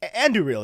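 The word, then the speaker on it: Andúril: in the movies and i know how rob english pronounces it but they're they're the same it's like it's andrew reel yeah everyone that was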